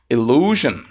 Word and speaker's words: illusion: magician created The Perfect illusion Elion Essa é a terceira palavra aqui que tem uma pronúncia um pouquinho diferente né illusion Observe que esse final Zion não é de fato Zion e sim j j Então esse é